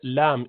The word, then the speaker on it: ل: Then comes the tip of the tongue, which goes up top, and you pronounce letter lam, easy.